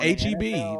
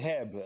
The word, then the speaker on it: HEB: Like my cousin came down and called it Habit. I'm like, what the hell is Habit? That's what I called it when I moved here too. Anyway, it's called HEB. It's actually pronounced that.